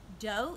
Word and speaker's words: do: is spelled r e dough is D Oh looks like do but we say dough ray is our